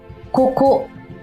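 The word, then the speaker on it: ここ: 이렇게 가행 글자나 타행 글자 같은 경우에는 앞에 나올 땐 어 그렇게 강하게 발음하지 않아도 되고 또 두 번째 음절서부터 나올 때에는 타금이 없음을 알리기 위해서 살짝 좀 강하게 읽어요. 그래서 그 글자를 발음하실 때에는 고고나 코코보다는 코코라고 읽는 경우가 더 많죠.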